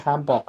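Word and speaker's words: 한복: This is a doll that we made, and I need to pronounce the Korean names of the dolls, the things, right? So, this is hanbok or hanbok. This whole dress is a hanbok, right?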